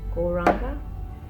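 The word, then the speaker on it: Gauranga: Goranga, said in 4 syllables.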